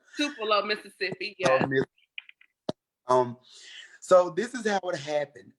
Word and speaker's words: Tupelo: don't know why people don't know how to pronounce it it's tupelo mississippi um so this is how it happened